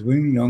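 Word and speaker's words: Wongwian Yai: It's Wong Wien Yai.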